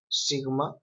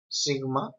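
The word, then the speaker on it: σίγμα: So we have this sigma, and it is pronounced s, like the English S, like stamp.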